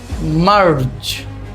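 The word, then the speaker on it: March: থাকি মূলত অনেকটা ওরকমই কিন্তু এখানে মার পরে হাফ আলিফ টান রয়েছে এবং এই হাফ আলিফ টান যেইখানে আপনি শেষ করবেন ঠিক একই জায়গা থেকে আপনাকে র ধরে নিতে হবে। যেমন হচ্ছে কি? মার মার। তারপর হচ্ছে কি? চ মারজ মারজ মারজ।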